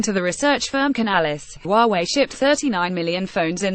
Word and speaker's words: Huawei: Huawei pronounced Huawei is already well known at home.